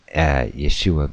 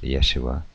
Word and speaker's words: Yeshua: The final represents the Patak Genova, the furtive Patak, indicating the consonant Ayan is pronounced after a vowel and the word stressed is moved to the middle syllable. This is all in talking, see? So in the Hebrew name of the historical Jesus is probably pronounced Yeshua, although it is uncertain and depends on the reconstruction of several ancient Hebrew dialects.